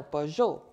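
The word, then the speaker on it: Peugeot: this car budget or per joe if you pronounce it in the french manner per joule so in this blank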